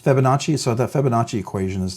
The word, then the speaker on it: Fibonacci: the uh uh uh fibbonacci I'm always struggling pronouncing that it's Fibonacci so that fibbonacci equation